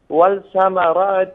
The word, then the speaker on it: والثمرات: الأموال من الأموال والأنفس والثمرات وبشر الصابرين. والثمرات والثمرات واو با ثا وصل کنین. والثمرات والثمرات لامر. وبشر الصابرين. برادر گرامی لامر در اینجا تلفظ نکنین، یعنی ول نگین.